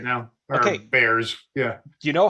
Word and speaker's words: Bexar: It's like beer or a bear or something like that.